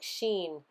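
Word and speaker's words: שין: the serpent biting you the name is pronounced like sheen um which is the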